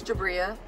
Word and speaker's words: Jabria: an a oh yeah so how do you pronounce that it's jabria they messed it up on my birthday my